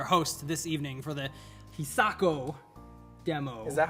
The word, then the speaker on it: Hisako: this evening for the hisako demo is that how it's pronounced hisako how pronounce it hi Sako Chase it's he Sako you think it's he